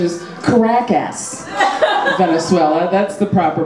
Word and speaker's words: Caracas: Yeah, or as we like to say in English, the proper pronunciation is Caracas, Venezuela.